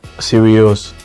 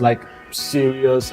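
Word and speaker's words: Sirius: star the dog star is called seros so that's why I so how do you spell that s i r i u s serious yes si I thought it was like serious okay like some serious no no no no there also serious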